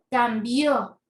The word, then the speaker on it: cambió: cambió mis hábitos higiénicos Miren la diferencia de estas dos palabras Parecen lo mismo pero no lo son cambio cambió mire como aquí tenemos la tilde es de la sílaba tónica entonces mira sílaba tónica es Bio cambio entonces decimos Cómo toma la sílaba tónica es la última sílaba quiere decir que es aguda aguda luego tenemos el